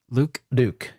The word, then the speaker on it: Luke: and I think is Luke. Yes. Yeah. I've always struggled to pronounce his name. Is it Luck or is it Luke? It's got to be Luke. It's Luke.